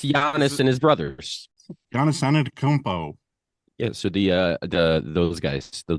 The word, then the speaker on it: Antetokounmpo: So I will say it is Antetokounmpo. Very good. I actually read it down phonetically because I never say it right either.